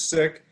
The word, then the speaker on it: Sikh: our communities to connect the correct pronunciation is sick so you'll help me